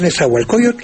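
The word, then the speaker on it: Nezahualcóyotl: México la población sí creo que es nezahualcoyot sin t pero Es lógico que si el nombre ese proviene del personaje verdad pues se debería pronunciar como se pronuncia el el del rey de Texcoco que eso fue eso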